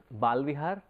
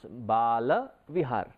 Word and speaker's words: Bala Vihar: in our next generation sometimes we tend to mispronounce it and we say it is balvihar the moment you say Baal vihar it is